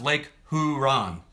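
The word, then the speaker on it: Lake Huron: the super fun program East Chicago IND it's pronounced Lake huran thank thank you thank you Lake huran um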